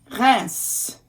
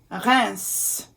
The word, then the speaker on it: Reims: Now this one, this syllable is very rare to see in a word, but there is one, and it is the name of a city in France. Reims, Reims.